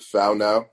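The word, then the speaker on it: whānau: now or is it something else so it's pronounced foul now found now okay yep they got it from the new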